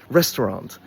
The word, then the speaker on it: restaurant: So, it can be pronounced as restaurant. Three syllables, stress on the first, but it can also be pronounced with two syllables, which is the way I do it.